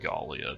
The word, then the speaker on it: Gallia: Down here in the province of Gallia, probably should be pronounced like Gallia because it's like Gaul, you know.